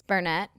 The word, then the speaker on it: Burnett: It's Burnett. It's whenever the T's it's like the syllable of the T. How so? Like gotten. Gotten. But if it ends in a T, there's no need for the T sound.